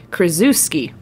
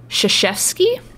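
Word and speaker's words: Krzyzewski: i and i said krazewski apparently that is not how you pronounce that last name you do not pronounce it phonetically in the english you know way it is pronounced shishevsky oh i feel like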